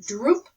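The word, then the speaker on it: drupe: to hand harvest the cashews the cashews are droop fruit and drips excuse me let me pronounce that droop fruit as we'll learn about later and the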